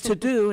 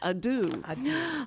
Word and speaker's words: ado: pronounce it correctly because I thought it was to do and it's a dude much a it's just